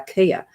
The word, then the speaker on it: chia: And the same as chia seeds are not pronounced that. They're kia.